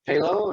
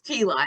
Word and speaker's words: Pelot: So Morgan and I really, is it Palo or Pelot? It's Pelot. It's nothing like it's spelled.